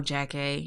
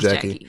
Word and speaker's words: Jackée: No, it wasn't no Jackée. Yeah, you're right. It was Jackie Reid. Was it Jackée or Jackie? Jackie. I think it was spelled Jackée, but pronounced Jackie.